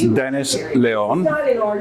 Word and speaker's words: León: My name is Dennis LEÓN, L-E-O-N. I normally tell them because people tend to pronounce it Leon.